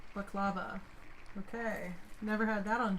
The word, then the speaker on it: baklava: I haven't had baklava in so long. Or I've heard it pronounced baklava as well.